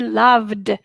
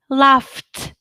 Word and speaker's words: loved: loved it should be loved and it's not foot loft it's loved loved not laughed because loved if you